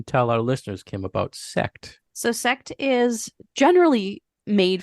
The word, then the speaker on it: Sekt: Sekt.